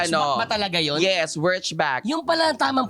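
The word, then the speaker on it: Wurtzbach: Wchback. 'Yun pala ang tamang pronunciation.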